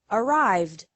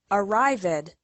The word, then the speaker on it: arrived: So the past tense of the verb arrive, which has 2 syllables, is arrived, which also has 2 syllables. Don't say arrived. It's incorrect.